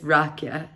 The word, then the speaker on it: rakia: know anything hold on what is it called uh rakia it's rocky and i was told